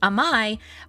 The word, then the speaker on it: Amai: as my last name uh which what we pronounced as amai but if used as like this particular term